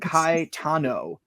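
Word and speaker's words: Caetano: anything in the video it's sound Kai Tano first of all there's no there's no n in Sao so this is America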